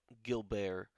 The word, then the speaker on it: Gilbert: she finds good bail Gill bear attractive and yes I know it's spelt like Gilbert but that's how she wanted to pronounce it so I went with